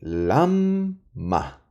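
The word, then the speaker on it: למה: pronuncia esta palabra así lamma Y por qué estoy alargando la m porque esta mem tiene un punto al medio es una dagage es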